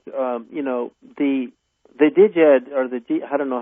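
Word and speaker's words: Djed: Like, you know, the Diged, or I don't know how you pronounce that, because I just learned Jed, like Jedi, you know, like George Lucas, Return of the Jedi.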